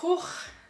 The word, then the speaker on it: Gogh: So it's not Go, they're not just two letters, there are four letters. Pronounced A. So yeah, I guess it's technically three letters. So Gogh is when you try to spit, like the G, that's the G sound.